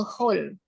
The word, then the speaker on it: whole: Jadi Oh, bacanya W-nya nggak usah dibaca. A whole.